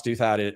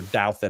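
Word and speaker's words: Douthat: a guy named Ross Duhat. Ross Duad or Douedit, I think some people pronounce it, is a uh conservative Christian Catholic political commentator who's huge in Washington. And so Rouse Douet says, "Hey, you started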